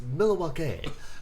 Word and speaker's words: Milwaukee: It's pronounced Milwaukee.